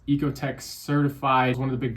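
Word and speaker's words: Oeko-Tex: So, as long as it's Ecotech certified and it's spelled ocoteex, so it's kind of I think it's pronounced ecoteex though.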